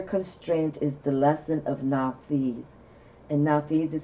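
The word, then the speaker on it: Nauthiz: deal with severe constraints is the lesson of now fees and now these is spelled n-a-u-t-h-i-z the name of the room this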